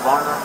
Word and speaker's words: Barnum: Okay, Barnum. How do you spell it? B-A-R-N-U-M. B-A-R-N-U-L. M-U-L. M-N-U-M. B-A-R-N-U-M. M-U-N-U-M. Barnum. Like Ringling Barnum and Bailey Circus?